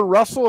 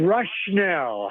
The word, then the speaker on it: Rushnell: Is it Squire Russell? Am I pronouncing that correctly? Rushnell? Rushnell.